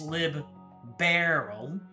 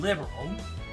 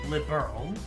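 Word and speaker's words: Liberl: It's Lib Barrel. Liberal like a big old bear. No vowel sound between the R and L. Liberal and stress on the second syllable. So it's liberal. Oh, liberal. That actually changes a lot. So everyone was saying liberal, but it was actually liberal.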